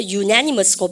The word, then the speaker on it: unanimous: 셈이 없다 치고 얘가 언이 아니고 유입니다. 여러분들 대학교처럼. 그러면 이것도 그래서 unanimous고 발음가 unanimous.